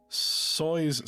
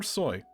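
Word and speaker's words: Tsoi: Uh, Victor Soy or is it is it soy or is it Soy? Uh, it would be soy.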